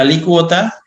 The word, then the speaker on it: alícuota: conocen saben que dice la alícuota que tiene acento en la y por si acaso no es alícuota general única es del 13% .